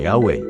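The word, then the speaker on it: Yahweh: saksi tungkol sa salitang yahwe Bakit Mas pinili nilang gamitin ang pangalang Jehova ganito ang mababasa sa kanilang aklat while inclining to view the pronunciation yahwe as the more correct way we have retained the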